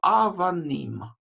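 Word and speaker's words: אבנים: Буква алиф имеет такую гласовку составную, которая состоит из горизонтальной черточки и двух точек, да? Эта огласовка называется хатаф-патах, это ультракраткая А. Сама буква алиф не читается, поэтому первый слог, да? А первый слог мы еще не прочитали, потому что эта огласовка не слогообразующая.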